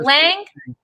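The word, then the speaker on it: Lange: jim lynch jim lynch l-a-n-g-e jim lane was it lang or land it would just be lang lang do you know some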